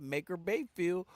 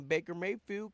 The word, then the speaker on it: Baker Mayfield: You know, I gotta say it, Maker Bayfield, but I gotta put respect on his name and say it right, man. Baker Mayfield came through, made sure those guys did what it was.